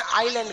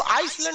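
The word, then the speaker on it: island: द्वीप को इंग्लिश में आइलैंड कहते हैं। क्या कहते हैं? आइलैंड। आइलैंड में ना एस साइलेंट रहता है। इसको आइसलैंड नहीं पढ़िएगा, आइलैंड। आइसलैंड तो इस तरह लिखाएगा, आइस लिख के लैंड।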